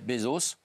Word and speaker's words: Bezos: du tourisme spatial de Jeff Bezos je l'ai bien prononcer oui c'est bien ils sont cinq à